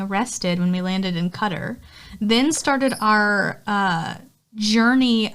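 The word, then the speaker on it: Qatar: orar cutter is it cutter yeah it's supposed to be pronounced cutter oh okay I go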